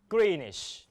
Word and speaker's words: Greenwich: ง อ ะ ไ ร แ ล้ ว Greenwich น ะ Greenwich W นั้ น เ ป็